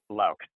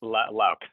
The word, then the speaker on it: Loucks: Is this the right way to say it, Jeff? The last name? Locke. Loucks. Locke. Yes, that's right. Loucks.